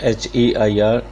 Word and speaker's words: heir: This is the pronunciation of H-E-I-R, heir.